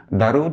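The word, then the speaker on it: درود: But if you want to use the very Persian word, you should say dorud.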